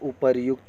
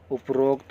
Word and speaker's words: उपर्युक्त: संधि संबंधी उच्चारण, सही संधि ना होने पर वर्तनी शुद्ध हो जाती है, जैसे उपरोक्त को उपर्युक्त लिखा जाता है, उपर्युक्त, उपरोक्त नहीं उपर्युक्त।